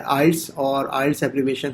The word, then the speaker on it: IELTS: Disappointment होती है कि even people having like post graduate degrees they are pronouncing this thing as आइलेट्स। सो ये please उसको pronounce correct किया करें आप। ये वर्ड है आइल्स और आइल्स एब्रीविएशन है international English language testing system.